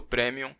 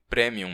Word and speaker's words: premium: E você percebe que se tornou um adulto premium quando deixa de passar roupa, mas ainda assim continua impecável. É, eu pronunciei premium mesmo, não premium, como algumas pessoas fazem. É uma palavra em latim.